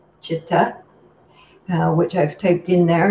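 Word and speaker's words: citta: of the word cipta it's pronounced like CH chitta which I've typed in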